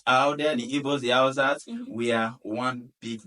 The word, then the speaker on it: Hausa: have, is it Hausa? Is that the right pronunciation?